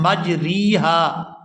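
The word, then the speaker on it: مجريها: लफ्ज है कि जिसको इस तरह से पढ़ा जाएगा मजरेहा यहां रा को मजरी हा नहीं पढ़ेंगे यहां पर इस रा को जेर की तरफ झुकाए लेकिन आधा झुकाएंगे यहां पूरी जेर जो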